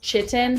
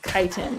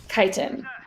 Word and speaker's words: chitin: looks like it's pronounced chitin but it's pronounced kiten like go fly a kite okay kiten another structural polysaccharide is